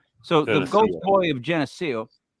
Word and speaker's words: Geneseo: idiot what is it it's Geneseo yes Tennessee right I get points for that but Geneseo okay so the Ghost Boy of Geneseo right bang and you've